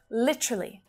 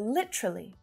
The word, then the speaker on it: literally: about traveling across australia literally literally or literally so it's really common to hear both of these pronunciations by native speakers literally with four syllables